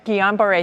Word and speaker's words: Guillain-Barré: Guillain-Barré, thank you. Yeah, that's how you say it.